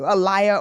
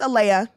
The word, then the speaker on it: Aaliyah: No, I'd be like, it's Alea. It is Alea. This is how you say it.